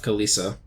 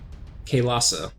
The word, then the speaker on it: Kailasa: We're also laying into the monkeys of Kalisa. Or wait, somebody told me that I'm not pronouncing that right. It is Kailasa, not Isa.